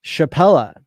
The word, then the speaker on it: Shapella: Wisdom they uh they they merged the two names of Shanghai and capella and came up with chappella and they they spell it differently all over the place right so so that's fun but to me it sounds like the Chappelle show it's chappella but I